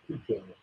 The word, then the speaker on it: pecan: That's how you say it, not pecan. Pecan pie.